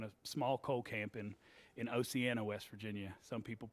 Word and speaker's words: Oceana: grew up in a small coal camp in Oceana, West Virginia. Some people pronounce it Oceana, but they're wrong. It's Oceana.